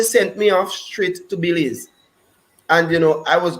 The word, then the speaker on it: Belize: fact that's where i learn is belize and not bellies because i grew up saying bellies they corrected me and laughed to say we could tell you come out in the caribbean our country's pronounced belize all right yeah that's why